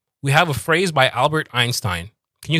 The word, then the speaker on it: Albert Einstein: Albert Albert coming down. Albert Einstein going up with the Albert Einstein.